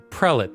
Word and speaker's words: prelate: the prelate i don't even know if i'm pronouncing that correct prelit thank you the prelate is basically the person that is under the